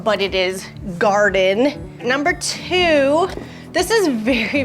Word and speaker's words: Gardyn: had the right pronunciation it is garden and the Y is there because of these y shaped and because they call it a y cup and so that's where the Y comes from but it is Garden